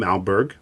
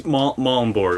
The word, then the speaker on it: Malmborg: Today I have as my guest Malberg. Is that, am I pronouncing that right? It's Malmborg, like Malm like palm and Borg like Star Trek.